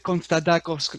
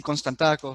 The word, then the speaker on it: Konstantakos: En griego, en griego es Constantakos con una D, o se suena con una D, pero en español sí Constantakos.